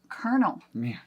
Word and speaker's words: colonel: next one is Kernel which has nothing to do with r in it but we say it with kernel we say it with an R but it's colonal Colonel is how it's spelled but we say carel I I I can